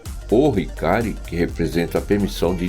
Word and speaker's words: Ohikari: É colocado o artigo O na frente do Hikari. Então, quando você se dirige ao objeto que é a Medalha da Luz Divina, você pronuncia o Hikari.